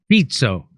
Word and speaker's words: Fico: So this 71-year-old man, oh, you pronounce his name Fitzo? Fitzo.